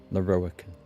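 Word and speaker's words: Lorroakan: we could start over I am laroican lauric I am most pleased to make your acquaintance that's how you pronounce it and that of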